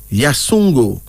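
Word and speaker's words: Yassoungo: Africa name meaning Sun then there's uh yesongo yasungo y-a-s-s o-u-n-g-o you hear that y-a-s-s -o-u-n-g-o pronounced as yasungo this is from the senu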